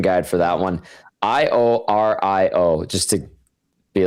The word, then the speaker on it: Iorio: Yeah, I had to go to the pronunciation guide for that one. I O R I O just to be like, okay, I need to clarify this.